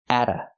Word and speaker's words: at: The T is pronounced as a fast D because it's between vowels. Atta.